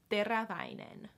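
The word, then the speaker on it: Teräväinen: de Gras diamond so diraja means sharp they rah again this has like the or AA combination and has two as in the word itself so it might be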